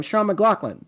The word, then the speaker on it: Shaun McLaughlin: I'm here with um Sean, how do you I mean I I know how I've always pronounced your name. Sean McLaughlin. Is that correct? Yep. Yep. That's absolutely correct.